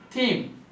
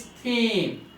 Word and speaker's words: theme: Theme. The word pronunciation of this word is not them, but it is theme.